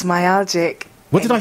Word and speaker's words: myalgic: It's myalgic.